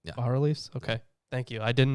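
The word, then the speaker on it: bas-reliefs: annals and base reliefs by reliefs is it that's pronounced bar release okay thank you i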